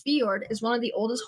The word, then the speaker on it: fjord: physical description and history the Norwegian Fjord horse pronounced as fiord is one of the